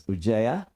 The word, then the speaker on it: Uzziah: Uzziah, some people may pronounce Ujjaya.